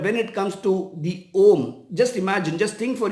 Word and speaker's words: Om: This alphabet in Hindi and Sanskrit is pronounced as Om, and Om is the sound which is attributed to the universe.